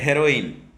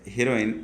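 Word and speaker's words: heroin: Next है हेरोइन, pronunciation सही करेंगे, इट्स नॉट हीरोइन, इट्स हेरोइन।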